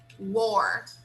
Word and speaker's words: wore: So here we have were, and here we have war. War. So it's a little different. Here it's were. Were. Okay. All right. War. This one is war. It's different. Okay. War. So it's totally different. Different sound.